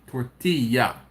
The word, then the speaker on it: tortilla: So two L's is pronounced as a Y. Tortilla.